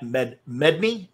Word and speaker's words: Medney: Very happy to welcome David Ervin and Matt Medney.